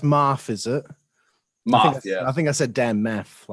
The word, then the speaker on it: Maff: So it's pronounced Maff, is it?